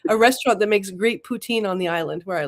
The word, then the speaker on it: poutine: have to pronounce that Poutine.